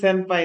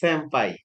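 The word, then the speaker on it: 先輩: এটা উচ্চারণ কিন্তু সেনপাই না, উচ্চারণ হচ্ছে স্যাম্পাই।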